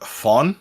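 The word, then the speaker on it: Fon: and then you got fawn which is spelled f-o-n in anime vlog that's the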